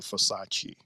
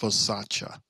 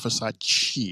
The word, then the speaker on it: Versace: that song, Jay, because that is not how you pronounce the name Versace. She hates it when us Americans call it that. It's pronounced Versace. So for years we've been pronouncing it wrong, saying the Versace. It's not Versace, it's Versace.